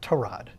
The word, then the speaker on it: Tyrod: So I don't think that having to go from Justin Fields to, I guess Baker Mayfield corrected us all, he actually pronounced his name Tyrod.